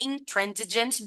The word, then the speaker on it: intransigent: Why might be intransigent be both a strength and a weakness?